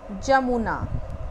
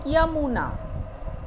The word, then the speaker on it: यमुना: जमुना, जमुना शब्द अशुद्ध है, शुद्ध रूप होता है यमुना।